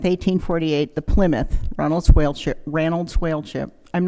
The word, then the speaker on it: Ranald: On June 27th, 1848, the Plymouth, Ronald's Whaleship, Ranold Whalechip, I'm not going to be able to keep calling him Ranold, just that's the Scottish pronunciation.